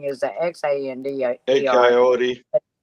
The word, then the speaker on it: Xander: named me Xander, but that doesn't look like how it's pronounced. Xander in English is pronounced Xander.